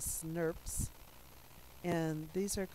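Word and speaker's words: snRNP: like this they actually become sn rnp's which we actually pronounce that as snurps and these are called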